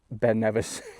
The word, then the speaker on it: Ben Nevis: How to pronounce Ben Nevis? Ben Nevis.